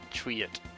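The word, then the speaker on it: Triet: remember okay so a little town called triot yup well you actually pronounced it right well maybe it's called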